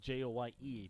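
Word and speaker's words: Joye: shortstop joy batting 221 it's spelled j-o-y-e but it's pronounced joy strike in there same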